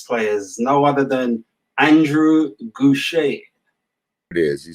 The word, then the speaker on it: Gouche: Our guest this week is no other than, he's been titled as the godfather of gospel bass players, no other than Andrae GOUCHE.